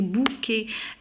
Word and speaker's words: bouquet: Alors regardez, bouquet. ET à la fin se prononce et bouquet de marguerite.